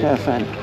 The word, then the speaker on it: Caofen: How do you pronounce it? All right. Caofen F80. Caofen.